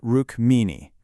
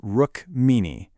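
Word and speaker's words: Rukmini: K R I S H N A and a beautiful courageous princess named Rrook Meanie. That's Rook Meanie.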